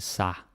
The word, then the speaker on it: sig: Yeah, so this sig will often be pronounced like a sa. That's kind of wrong, but we do it anyway.